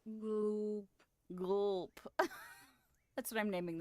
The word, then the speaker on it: glup: So, it's spelled G-L-U-P, but it's pronounced... Gloop.